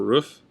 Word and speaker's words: roof: A lot of people say rough or roof. It's roof.